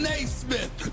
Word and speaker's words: Naismith: Stephen Naismith, as in Naismith, the basketball hopper. That's what you say. That's how you say it, fellas, okay?